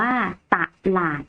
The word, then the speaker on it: ตลาด: อักษร ต่ำ เดียว คำ ว่า ตลาด อ่าน ว่า ตลาด ถึง นะ คะ ลักษณะ นัก เรียน ลอง สังเกต การ อ่าน สะกด คำ ของ มัน อย่าง ฮะ ตลาด อ่าน